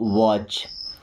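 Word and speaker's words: watch: सी एच के पहले अगर टी आ रहा है तो टी साइलेंट होता है।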